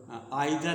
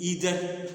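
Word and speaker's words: either: र्ब लगता है तो आइर नादर इस इसका जो उच्चारण दो होता है जैसे ब्रिटिश इंग्लिश में आइर बोला जाता आदर नादर अब अमेरिकन में इदर नीदर बोला जाता है र नीदर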